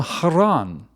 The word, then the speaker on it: Haran: where are you from We're from Haron they replied I've been pronouncing it Heron I think he said